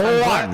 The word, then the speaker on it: Juan: Juan. I'm glad you guys just said that. Juan is not pronounced with an O sound. It's a U sound. One, the same as cup.